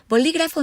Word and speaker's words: bolígrafo: not the wall polygrapher bolígrafo means pen and here I have the world bolígrafo divided into syllables also notice that the stress falls on the second syllable - till they or